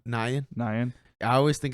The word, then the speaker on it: Nguyen: Nyan. I always think it's Nguyen, That's what I was and he gonna say. shits on me for it. It's Nyan.